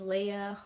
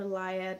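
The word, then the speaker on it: Laia: the ashes is about a girl named Leia or liya depending on how you pronounce with I say Leah but her brother Darren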